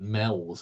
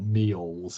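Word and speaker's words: Meols: Sand Hills so where we see the word mels around the coastline or meals as some people pronounce it but we're in the Northwest it's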